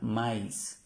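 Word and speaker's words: maïs: ya la habíamos visto el maíz tiene el acento como se llama ese acento los dos punticos trema maís maís pronuncia mais est ahí con el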